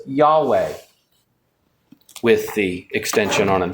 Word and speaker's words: Yahweh: So most scholars think that the pronunciation of the name of God should be Yahweh. Now that of course is what I actually think it's a better way to pronounce it. It's hard to pronounce something in ancient Hebrew if there's no J, is it?